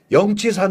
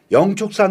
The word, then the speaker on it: 영축산: 축산과 치솟아 를 혼용한 영취산 으로 불리기도 했습니다 그러다 2001년 양 4g 지명이 원해서 독수리 진짜를 불교식 이 발음인 축 으로 표기 하면서 영축산 으로 통일을 한 겁니다 원래 이사는 영치 산